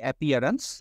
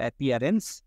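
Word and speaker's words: appearance: বলে প্রোনাউন্সিয়েশন কোশ্চেনটা দেখুন প্রথমে আছে তাহলে এ হবে না আ প্রথমে এপিয়ারেন্সের এ বাদ উচ্চ হবে আ এরপরে দেয়া আছে প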